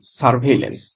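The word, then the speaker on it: surveillance: তো উচ্চারণটা কিভাবে হবে? এইরকমভাবে এস ইউ আর সার ভিই আইল হেল লন্স। Double N সি সারভেলেন্স।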